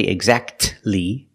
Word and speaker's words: exactly: it you don't say exactly exactly don't pronounce the T the exactly you go from that sound to the uh sound exactly exactly or the